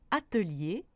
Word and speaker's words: atelier: Peu importe cette fois sa place dans le mot, on prononce toujours le E devant les sons li, ri, mi, ni, comme dans atelier, sommelier.